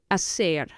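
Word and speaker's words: hacer: or to make is a it's both h a c e r again the H is not pronounced so you have a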